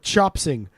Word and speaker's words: chopsin: What do you think for chopsing? Now, again, remember, Welsh people love taking the G off the end, so it would be chopsin.